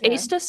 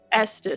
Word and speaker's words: Estus: Is Aus a good aligned god? Who? The god of crafting and inventing. Oh, Estus. Estus. Sorry, I pronounced it wrong.